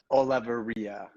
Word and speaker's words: Olaverria: so it's It's Olaverria. Olavarria. Olaverria. You got it. Almost there. You just have to roll the R's a little bit more.